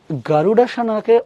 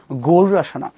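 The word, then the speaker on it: গরুড়াসন: stay in গারুডাস সানা গারুডা সানাকে অসে ড বলবো না র বলবো এই যে আবারো হচ্ছে ইন্ডিয়ানদের সাথে আমাদের ভেজাল ওরা ড যখন ভিতরে লেখে এটাকে আসলে বাংলায় র তে উচ্চারণ করতে হয় সো গারুডা সানা কিছু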